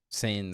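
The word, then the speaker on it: Seine: saying sane sane whatever it sane it's pron it's pronounced like s a y n okay I'm fine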